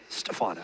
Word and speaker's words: Stephano: lone star class three that is the right way to say it he is Stefano I love that with